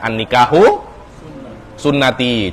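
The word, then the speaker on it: النكاح سنتي: Karena mustambat min katsirin minal ahadis, kita melihat banyak hadis mengatakan an-nikahu sunnati. Jangan seperti Ustadz Hasan yang membacanya an-nikahu santai. Akhirnya sampai lama tidak menikah, an-nikahu santai saja. Bukan an-nikahu sunnati, tapi an-nikahu santai.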